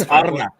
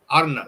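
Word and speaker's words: Arne: do how strike one it's ARA Arna all right ARA all right when Arna R Baby Gotta roll the r yeah when ARA's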